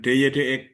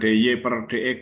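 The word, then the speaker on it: dy/dx: Dan Y aksen itu disimbolkan dengan DY dx. Itu membacanya DY dx ya, bukan DY per dx, bukan. Ya, DY dx.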